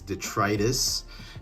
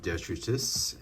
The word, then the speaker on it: detritus: online English dictionary and it is pronounced as detritus not dexteritus and detritus by definition according